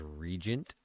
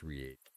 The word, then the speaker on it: reagent: I used to say that word as regent all the time. I was actually pretty sad when I learned that it's pronounced reagent.